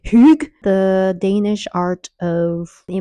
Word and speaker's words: hygge: I'm pronouncing it correctly. Hygge, Hygge, Hygge, Hygge.